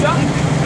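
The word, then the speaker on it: DUKW: is known as a duck. That's spelled D-U-K-W, and the D in that stands for the English Bill.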